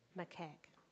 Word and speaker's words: Macaque: Sri Lankan, how do you say that one? Macaque.